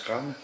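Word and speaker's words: Craonne: C'est vrai que moi, j'ai vu dernièrement des manifestations sur le chemin des Dames, où on voyait le village de Kran, ça se prononce Kran, qui a été complètement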